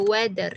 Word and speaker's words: weather: Apa cuaca the the weather cara bacanya the weatherather weather weather y thnya itu dibaca d D ya the weather the